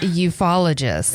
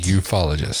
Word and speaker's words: ufologist: that is actually how it's pronounced, ufologist. A ufologist.